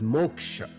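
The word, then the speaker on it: moksha: the cycle of birth and rebirth this is pronounced as Moka spiritual journey or sadana a Seeker needs to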